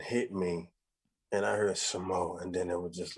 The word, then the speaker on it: Samoht: And then that's spelled Samoht for those of y'all that don't know, because, you know, people gonna spell it. So people gonna be out here spelling it wrong. So yeah, the T is silent, guys.